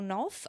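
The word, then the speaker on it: Knauf: girl I will say Daniel na or noof I'm not sure it's k n a UF so I think I'm saying it correctly um I always look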